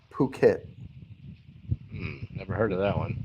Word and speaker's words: Phuket: this time yes it did work this is pronounced Phuket never heard of that one not it yeah are you sure it's Phuket Thailand okay although you know when I get